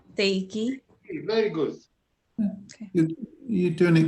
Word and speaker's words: Θεϊκή: Is that called an umlaut where does it make you pronounce the vowels separately? Is that what that? That's the two dots. Yeah, that's what that's telling us. Okay. Otherwise, E, I together is just an E sound.